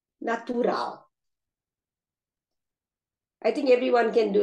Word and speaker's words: natural: They both have 3 syllables and the stress is on the last syllable. So we have the papel, animal, natural.